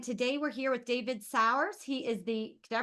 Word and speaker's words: Sauers: hey this is winter with the shift Spotlight and today we're here with David sour he is the did I pronounce that right s sours all right I did pretty good he's the